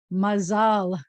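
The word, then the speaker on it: מזל: Then we have the word mazal. You may have heard the word mazel tov, which is a Yiddish pronunciation, or mazal tov, which means good luck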